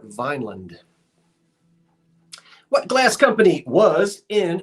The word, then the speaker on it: Vineland: from out of town if they say Vineland because it's not referred to as Vineand, although it's spelled that way. Folks around here call it Vineland.